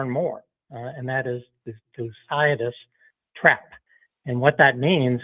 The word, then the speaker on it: Thucydides: One word that came out of yesterday's meeting is will be heard more and more and that is Thucydides trap.